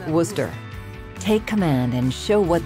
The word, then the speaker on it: Worcester: of the branch yes the ship's name is pronounced Worcester take command and show what these twelve guns